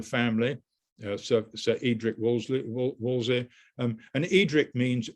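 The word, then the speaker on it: Wolseley: dejoylesley an estate and the wellesley now pronounced their name woolsey um and uh they've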